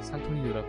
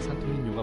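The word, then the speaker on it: Santo Niño: 첫 번째 산토니뇨 성당 흔히들 한국식 발음으로 산토니오라 부르는 생강으로 정확한 발음은 산토민료가 맞습니다이 성당 안에는 한예수산이 있는데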